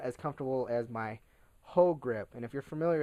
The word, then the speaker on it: Hogue: I mean, it's comfortable, but not as comfortable as my Hogue grip.